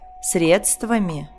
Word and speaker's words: средства: дово Как вы заметили ударение в русском языке разноместное оно может падать как на первый слог например средства Может на второй например звонит Может на третий каталог может падать на четвёртый асимметрия и так далее это